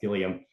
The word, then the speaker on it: Gilliam: And so I was told this like oral academic lore that he's British and that's pronounced Gilliam as an anglicization of what was obviously originally the French name.